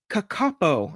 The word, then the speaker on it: kakapo: Kakapo.